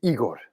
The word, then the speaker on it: Igor: notice he's not dibbing he's just saying igor no no it is igor not colored christian not